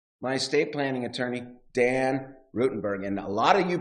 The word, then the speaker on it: Ruttenberg: Thanks for coming in, 14 years, and he still can't pronounce my name right. It's Rutenberg. Rutenberg, see, look.